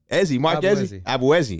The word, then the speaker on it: Ezzi: fine all right man how do you say it ezzy Izzy all right cool there